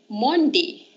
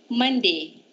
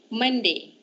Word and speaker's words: Monday: how do you pronounce this word everyone let's pronounce this together some of my pupils say this word s Mondi it's not Monday it's Monday the the Whitman